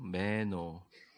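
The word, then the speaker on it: μένω: 저를 따라해 보세요. 메노. 그러니까 매에 할 때 에에다가 좀 강점을 써 메노라고 발음하는데, 이게 영어로 해석하기가 되게 까다로워요.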